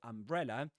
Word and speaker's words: umbrella: However, the word umbrella is, the main accent on that word goes on the second syllable, bre.